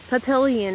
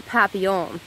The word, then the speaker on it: papillon: Papillion is my animal self, or papillon. I have to learn proper French pronunciation, but, I'm American, and we don't have the double L. To us, when we have double L, we just say it as the L sound.